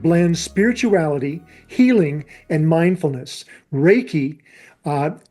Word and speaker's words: Reiki: Reiki, uh, spelled R E I KI. And I would phonetically spell it r a y-en ke.